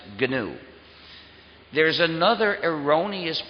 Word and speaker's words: GNU: always be G so please pronounce it ganu there's another erroneous pronunciation